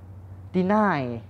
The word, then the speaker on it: deny: ต่อ มา นะ ครับ deny deny deny อัน นี้ คือ เรา จะ ออก เสียง หนัก ข้าง หลัง นะ ครับ deny deny นะ ครับ